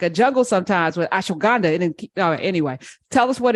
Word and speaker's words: ashwagandha: So ASH, ash, WAG, you wag, and AND, ha, HA, ha ha.